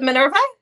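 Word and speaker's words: Minerva: follows men men menura how do you say manura is it manura yes thank you okay manura they call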